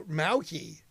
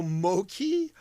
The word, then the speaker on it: Mochi: Oh, Mauki. It's Mauki? Oh, man. But it's spelled Moochie. M-O-C-H-I. Mauchi. Mauchi. Mow the lawn. Mow the lawn. So Moki, Moki, Moki. Wow, man, that's my pronunciation of spelling from stuff is horrific. Mow the lawn. Moki.